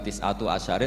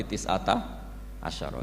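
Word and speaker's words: تسعة عشر: Tetap bacanya bukan tis'atu asyarin tapi tis'ata asyara.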